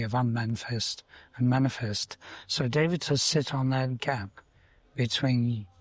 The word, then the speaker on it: Devata: Now, in the Vedic tradition, the word for law of nature is Devata. Devata. It's 3 syllables. De-va-ta.